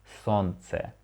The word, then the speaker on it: солнце: Okay, we leave out the letter ul, потому что, because it's a little bit harder to say, it's a little bit hard to pronounce солнце. So we pronounce it like солнце.